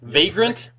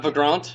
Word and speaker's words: Vagrant: a how do you say that you say vagrant story vagrant story vagrant yes not for Grant no goddamn first question